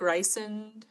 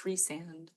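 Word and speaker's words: Rhysand: I like Ryson, but it's Reand.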